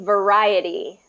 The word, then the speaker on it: variety: okay so this one's variety variety yeah there you go variety variety so it has that so this kind of looks like an L but it's it's a a a long ey Vari variety ver variety